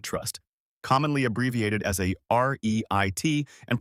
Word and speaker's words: REIT: real estate investment trust, commonly abbreviated as a REIT and pronounced like the word REIT.